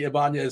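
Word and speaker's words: Ibáñez: Tigers team and like there's an actual audio clip uh you can hear Andy ebonya say his name or somebody say uh the name and it's there was remember the hitter for the with the Philadelphia many years ago Raul banyas I don't know if they're related or not I have no idea but the same exact spelling same pronunciation you know how to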